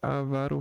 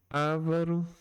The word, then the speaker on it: avaro: É frequente ouvirmos a pronúncia avaro, rúbrica e púdico. Ávaro, rúbrica e púdico. Vamos para Vamos pegar esse texto aqui para entender. as pronúncias a varo, púbrica e púdico como próparoxitas. Foi o que aconteceu comigo. Porém, como elas não recebem acento gráfico, devem ser pronunciadas como paroxítanos.